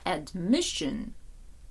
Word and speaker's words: admission: буде admission прийом госпіталізація наголос admission куди падає на другий склад assess assess оцінювати оцінка